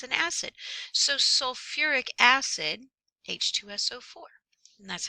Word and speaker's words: sulfuric: in three it says change the root if necessary for pronunciation sulfi oh it bothers me so we actually say sulfuric that sounds scary right